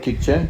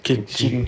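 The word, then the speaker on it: Q'eqchi': ¿Puedes hablar Kikche? ¿O cómo se dice? Kikchi.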